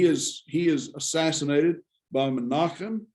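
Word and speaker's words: Menahem: he is assassinated by menachem menehem as as we sometimes pronounce it but uh menachem same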